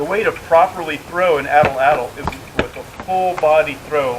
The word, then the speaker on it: atlatl: addle so you can that's pronounced a TL or it spelled a TL a TL pronounced atlatl or atlatl either way you can just think